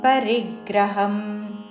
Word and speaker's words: పరిగ్రహం: అంగ్ ఉచ్చారణ క్రోధం పరిగ్రహం రీ మీద ఆఘాత కామం క్రోధం పరిగ్రహం విముచ్య నిర్మమః శాంతో విముచ్య